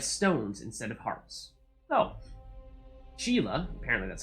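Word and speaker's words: Sheala: that they have stones instead of hearts Oh Sheila apparently that's how you pronounce it based on I think what Amanda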